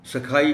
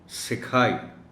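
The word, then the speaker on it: سِکھائی: جائے گا پیارے پیارے۔ سکھائی بولا تو عام طور پر یہ صحیح جاتا ہے، لیکن بعض بچے جن کو اتنا شعور نہیں ہے تلفظ کے بارے میں، وہ غلطی سے پھر اس کو سکھائی بھی پڑھ سکتے ہیں۔ لہٰذا سین کے نیچے زیر کے ساتھ اس کو بولا جائے گا سکھائی۔ اسی طرح مٹایا، جگمگایا،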